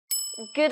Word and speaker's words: good: So, during this time, we say good afternoon.